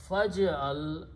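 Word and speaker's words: فاجعل: But before that is a fa, and when you put a fa, you don't pronounce this alif. So it becomes faj'al.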